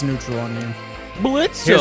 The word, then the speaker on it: Blitzo: Blitzo. Here's Blitzo. Don't say the O because the O is silent.